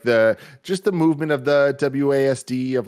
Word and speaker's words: WASD: He calls it ASWAD. I mean, no, he is wrong, because there's not even two A's. Yeah, there's no. Yeah, the second A He's is silent. wrong in every way. But what is right? So you want to say ASWID? it's WASD. It's WASD. ASWAD makes more sense, and you know it. Don't No, it doesn't. The second A is silent.